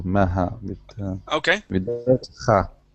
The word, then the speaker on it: Maha: Oh, it's in the middle, Maha, Okay.